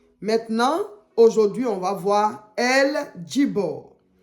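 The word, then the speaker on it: El Gibbor: voilà j Bor parce que c'est pas en français donc ça se lit go I ça se lit j mais ailleurs eux il dit J voilà donc on dit l jibor sinon normalement ça s'écrit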